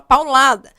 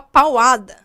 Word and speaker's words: paulada: Eu pegar o pau e falar que é uma paulada. Não dá para falar pauada, fica estranho, a pronúncia não fica bacana.